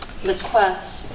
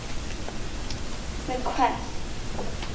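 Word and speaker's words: liquesce: Your word is liquesse. The children will be carefully watching as the ice sculptures liquesse in the afternoon sun. Is there any alternate pronunciation?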